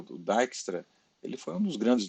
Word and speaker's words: Dijkstra: Esse nome é um nome aí europeu, então normalmente eles, em inglês se pronuncia Dijkstra, mas tem gente que diz Dijkstra, o que torna mais difícil, né? Então normalmente esse J aqui não é pronunciado Dijkstra.